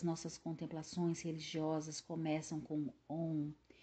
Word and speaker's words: Om: Om também nunca é pronunciado ou escrito como A-U-M, que é uma interpretação puramente escolástica a fim de acomodar reflexos de especulação metafísica que nada tem a ver com o som mântrico simples.